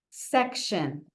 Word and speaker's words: section: And then the other thing, section. Section, a part of something, not the whole thing. So there are different sections in the supermarket. Different sections in the supermarket. Section. This T-I-O-N says shun.